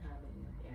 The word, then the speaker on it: habanero: Lemon habanero. Yeah. So the H is silent.